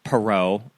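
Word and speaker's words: Perrault: Based on Cinderella by Charles Perau.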